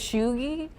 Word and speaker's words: Cheugy: Cheugy? That is how you say it. Okay. That is so chuggy.